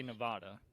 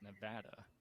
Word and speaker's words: Nevada: state that has Las Vegas how do you pronounce that state uh Nevada yeah it is Nevada so I used to say Nevada for the longest time and this is one